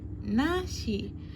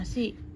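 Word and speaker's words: なし: sini yang zu menjadi nashi. Boleh dibaca tanpa vokal i ya minasang, nash gitu. Ini kan bacanya nasi. Kita boleh baca tanpa vokal i menjadi nash gitu minasang.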